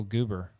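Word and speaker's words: Guber: that it matters peter and it's spelt g-u-b-e-r so i i pronounced it i like it oh goober wow that's awful name um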